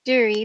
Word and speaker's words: Duerre: Duerre, like jury, is what she told me.